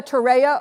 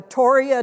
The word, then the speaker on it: torreya: The Florida torreya or toria tree, people pronounce it differently, I'm going to talk about tonight.